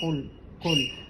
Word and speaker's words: قل: Qul. You don't move the letter. So we say qul, and it's not like a ka, it's like a qa from inside, from deep inside, very strong.